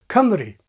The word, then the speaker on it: Cymru: is in the Welsh name of the country, Cymru. There's no strut vowel, and above has the same phoneme in both syllables.